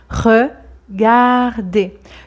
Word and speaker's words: regarder: que à la fin le E r C'est E et en aucun cas on entend r hein on ne dit pas regard mais regardez regarder donc le deuxème R